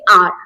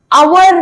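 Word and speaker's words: our: बिल्कुल क्लियर रहना है आप इसको बोलेंगे आर अवर नहीं बोलना अवर नहीं इसको आप कैसे प्रोनाउंस करेंगे आर ठीक है ये देखिए मैंने इसलिए आर लिख दिया है आवर नहीं आर तो हमारा देश आवर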